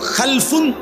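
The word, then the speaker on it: خَلَف: মাঝখানে একটা লাম আছে, এই লামটার মধ্যে যদি সাকিন হয় তাহলে হলো খালফুন, আর যদি লামের মধ্যে জবর হয় তাহলে হলো খালাফুন, আরবি শব্দ।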